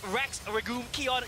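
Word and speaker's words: Rex Regum Qeon: times as fun and that's our iq that's rex regul kion yes i've learned how to pronounce their name and they make it work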